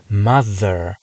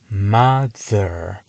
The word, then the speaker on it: mother: 앞에 있는 경우를 보겠습니다 mother mother 같은 경우 자세히 들어보면 두 가지 소리가납니다 mother mother mother 여기서 th가 두 번째 소리 앞에서 약한 디귿 발음을 만들어냅니다 이렇게 th가 슬로보 앞에